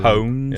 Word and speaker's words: pwned: pwned? Yeah, it's owned but with a P.